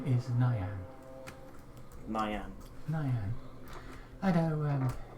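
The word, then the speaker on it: Niyan: My name is Nyan. Nyan. Nyan. I know, sounds unusual. It's spelled N-I-Y-A-N. N-I. N-I-Y-A-N. So not Nyan.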